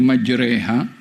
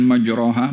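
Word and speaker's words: مجراها: inbiurahim macam mana boleh majreha bukan majraha boleh Dibaca majraha juga tapi ada bacaan majreha tulisan majraha majreha sama mim Jim e ro kemudian ha dengan Alif Mad dibacanya majraha dibacanya majreha tulisannya sama sebutannya besok waduha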